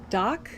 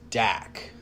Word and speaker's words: Dak: I think uh Doc, is that how we say his name? Doc H. So I heard it as Dak.